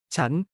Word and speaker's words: ฉัน: And ฉัน meaning I for women is often pronounced chun by many Thai speakers.